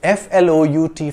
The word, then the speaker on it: flout: and pronunciation are different f l o u t flout rhymes with out and spout to flout means to